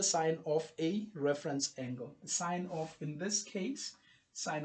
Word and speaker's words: sine: I didn't say the sin it's sign it's written same please it's pronounced sine it's not sin because the full name